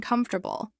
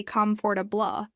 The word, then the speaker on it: comfortable: For example, stressing the second syllable in comfortable, which should be comfortable, makes the word sound unnatural.